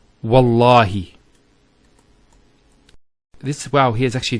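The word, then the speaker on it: والله: it, and we say Wallahi. This waw here is actually known as waw al-qasm, the waw of swearing an oath. So when we put this waw, it's Wallahi, not Wa'allahi.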